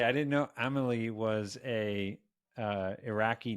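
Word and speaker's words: Amélie: l i e yeah the American trailer said armaly you you love mispronouncing words like they know it's called Amal because they they saw fil Amal amily Pand all the way through Amal amily amily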